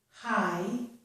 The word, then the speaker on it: high: This is the word high, and the GH is silent.